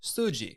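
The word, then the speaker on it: 筋: the Japanese word for muscle and that is suji suji is spelled Su uji and sui is clearly relatable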